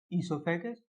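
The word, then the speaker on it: oesophagus: Buccal cavity, फिर उसके बाद हमारी आती है फूड पाइप या फिर ओइसोफेगस, ईसोफेगस। इसमें ओ साइलेंट होता है, इसलिए उसको बोलते हैं ओइसोफेगस, ईसोफेगस लिखा जाता है ओइसोफेगस, बोला जाता है ईसोफेगस।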